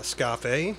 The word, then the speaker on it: Scafe: I'm Oatmeal Tits, that's Dead Nuts, and with us today of the bands Krieg and Scafe, am I pronouncing it correctly? Scafe, yes.